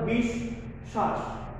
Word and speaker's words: বিশ্বাস: যে ব্যঞ্জনের সাথে যুক্ত হবে বফলাটা, ওই ব্যঞ্জনটাকে আমরা দুইবার উচ্চারণ করব, ওই ব্যঞ্জনকে আমরা দুইবার উচ্চারণ করব। যেমন তোমাদের সুবিধার্থে আমি একটু সাদৃশ্য রেখেছি। প্রথমে শ্বাস লিখেছিলাম, এর সামনে বি লাগিয়ে বিশ্বাস, অর্থাৎ বিষ শ্বাস, বিষ শ্বাস।